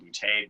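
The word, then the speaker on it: Boutte: at underscore bootay b-o-u-t-t-e if my last name doesn't sound funny you're not saying it right yes from new orleans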